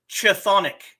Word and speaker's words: Chthonic: They are called, and this is Greek, so you'll have to forgive me if I screw up pronunciation, but it's chthonic.